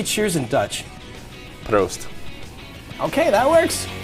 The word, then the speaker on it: proost: Proost. Okay, that works. Prost.